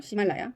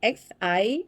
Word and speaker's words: Ximalaya: 중국 사이트가 어, 이게 시말라야라고 읽나요? 시말라야. Ximalaya.